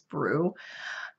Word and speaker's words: Broo: I believe, I think that is how you spell it, or you're supposed to pronounce it is Brew.